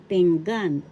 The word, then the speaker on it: pinggan: First syllable ping, second syllable gan. The accent is in the second syllable, so we say this Tagalog, pinggan.